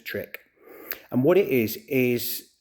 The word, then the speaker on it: trich: of that call it trick. So t r i c h just shorten to trick and what it is is the pulling out of your own hair.